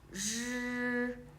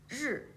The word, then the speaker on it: 日: 知吃诗日 so we need to curl the tongue slightly, but not too much, just a small curl with the tongue raised.